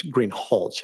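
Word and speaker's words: Greenhalgh: thank you your honor officer Greenhall I believe I Mis pronouncing your name it's green hch isn't it correct okay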